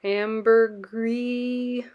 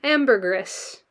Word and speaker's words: ambergris: tiara amber ambergris or amber gree ambergris oh okay you do pronounce the s m ambergris well i am offended